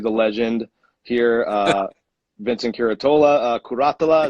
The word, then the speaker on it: Curatola: legend here Vincent Curatola karate Allah is how you say that into today your rank